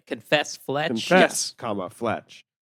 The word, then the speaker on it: Fletch: comma, Fletch. It's not Yeah, flesh. No, it wouldn't be Confess- flesh.